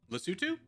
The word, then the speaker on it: Lesotho: If this is about pronunciation, then Corgi's pronouncing it right. Lesotho?